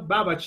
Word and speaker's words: Babbage: No, Babbage is the pronunciation of the last name, okay?